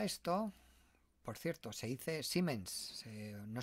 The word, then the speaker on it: Siemens: por cierto se dice siemens si no se dice siemens bueno en españa si existe ciments una y larga como